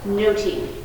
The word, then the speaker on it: nothing: much ado about this would have been pronounced noting not nothing okay so the i